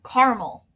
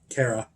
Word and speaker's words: caramel: know why don't start i grew up hearing caramel caramel caramel caramel caramel caramel caramel but what's the first part of that word i know car caramel cara full disclosure my first